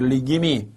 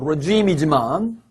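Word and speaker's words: regime: 할 수 없기 때문에 리김이 여러분 리김이 물론 발음은 레짐이지만 정권이나 체제가 다시 공산주의가 되었네 이렇게 말할 수 있다 이렇게 생각하시고 다시 4강의 예문부터 보도록 하겠습니다.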